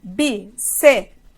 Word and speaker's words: bíceps: Então, essa separação, bíceps, não tem como existir, tá? Deixa de loucura. Então, vamos lá. Bíceps. Eu separo a sílaba assim, bíceps. Então, a tonicidade está no bi.